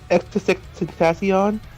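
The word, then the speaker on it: XXXTentacion: AKA, how do you pronounce it again? Extentacion.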